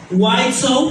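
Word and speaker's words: Widtsoe: White Soap. Se escribe w i d t s o e.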